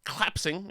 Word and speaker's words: collapsing: It's three syllables. What's wrong with saying collapsing? Because you make it 2 syllables. You rob it of a syllable where you are happy to charitably give February the R audibly. Collapsing does not get the same treatment.